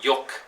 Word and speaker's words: jook: you've seen it there if you don't know how to say this word it's pronounced yook um yook is a type of